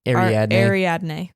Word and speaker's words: Ariadne: Ariadne.